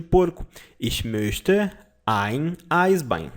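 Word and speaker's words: Eisbein: esse meu Esther haim Ai bem vou colocar a pronúncia aqui ai bem em Eyes behind him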